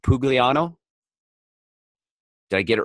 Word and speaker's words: Pugliano: it right that's good I pronounce it pugliano but uh many many variations it's it's an Italian name it should be John pulo ah it's I don't say it that way so well and we're